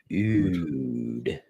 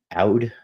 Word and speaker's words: oud: And uh yeah, Oud. Yeah, one of my first videos uh that I ever did, I was mispronouncing oud as out, I think it was.